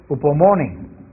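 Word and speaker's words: ὑπομονή: Hay una palabra griega que es un poco difícil de traducir, pero que quiere decir paciencia, que se pronuncia upomone, y es el carácter que no sucumbe ante los sufrimientos.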